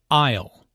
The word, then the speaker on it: aisle: who does which task aisle notice the silent s in Isle an isle is an